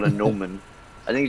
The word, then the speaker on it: gnomon: I think it's just called a gnomon. I think it's just called a gnomon. That's That's how you pronounce it.